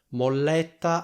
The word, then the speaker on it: molletta: Molletta ha due L e due T, quindi fate attenzione alla pronuncia che è molletta. Quindi si sente chiaramente che c'è una L doppia e una T doppia.